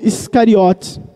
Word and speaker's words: Iscariotes: quando foi realizada e passou para o grego a pronúncia se tornou Iscariotes então é bem provável